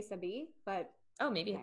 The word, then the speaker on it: Sebi: Sebi. I think that's how you say it. S-E-B-I. I want to say Sebi, but.